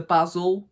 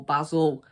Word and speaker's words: Basel: season for bars of basel basil well basil leaves so yeah i'm pretty sure it's pronounced basel um so yeah we'll